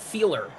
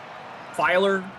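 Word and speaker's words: Feiler: protect the quarterback right matt who is it feeler am i pronouncing it right i don't know i'm asking you f e i l e r matt feeler hmm pretty sure that's right i could be wrong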